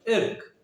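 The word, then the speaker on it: irk: Are silent होता है, क्या बोलेंगे प्रोनाउंसिएशन में? इर्क, एक, है ना।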